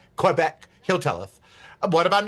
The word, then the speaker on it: Quebec: Would you go to Vancouver, Quebec? Would you go, which is not pronounced the way I'm pronouncing it. Sorry, it's Quebec. Quebec.